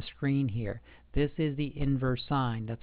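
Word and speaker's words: inverse sine: wrote on the screen here this is the inverse sign that's how you pronounce it inverse sign inverse cosine inverse tangent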